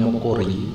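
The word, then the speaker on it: 목걸이: Ada mokori ya, mokori ya, tulisannya membacanya mokori karena G ketemu G maka double G suaranya.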